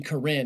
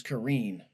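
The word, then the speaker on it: Korine: I found out recently that that's how you say it. I ain't saying like that. Yeah, it's not Harmony Karen. It's Karine.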